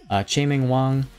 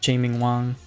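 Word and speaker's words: Chien-Ming Wang: Chae-Ming Wang, pretty sure that's how you say his name. Yep, Chae-Ming Wang.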